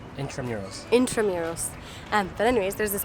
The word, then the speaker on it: Intramuros: Intramuros.